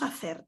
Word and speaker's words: hacer: Hacer, the H once again is not pronounced, ejemplos with a H, and so on.